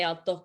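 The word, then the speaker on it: al toque: away you would say altoke i remember when you have a q and a u you just like continue with the k sound you don't pronounce u so it's and then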